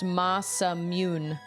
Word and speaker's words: Masamune: It's pronounced Masamune.